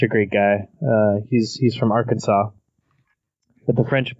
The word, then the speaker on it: Arkansas: He's from Arkansas, but the French pronounce it Arkansas.